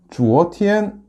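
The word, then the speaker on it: 昨天: 그래서 뒤에 역시 하늘천과 결합하면 주어티엔이 되겠네요. 다시 한번요. 설명을 해드릴게요. Z, U, O. 그 다음에 이성으로 해서 주어티엔. 이런 발음이 되겠습니다.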